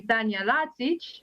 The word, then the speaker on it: Tanya Latsic: with serbia and actually you completely mispronounce my name which everyone does so that's okay um but if i tell you that my name is actually tanya latsic maybe that will ring a serbian bell so thank you for